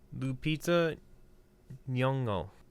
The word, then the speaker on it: Lupita Nyong'o: I want to try to pronounce her name correctly. Lupita Nyong'o.